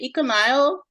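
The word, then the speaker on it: Econyl: Is that how you say it? I guess so. I'd say Econile. Econile.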